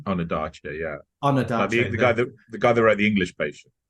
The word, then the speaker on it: Ondaatje: Is that how you pronounce his name? Ondaatje, yeah.